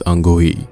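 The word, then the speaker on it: Anghkooey: ही कह दिया था तो के यहां पर साइलेंट है इट्स अंगू ही जेड उन्हें देखकर डर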